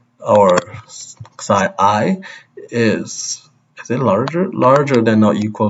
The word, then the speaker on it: psi: So I am also pronouncing as this, as psi, and I know some other people pronounce it as xi or whatever, but I'm just going to say it this way.